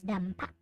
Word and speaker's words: Dampa: So it's pronounced as Dampa.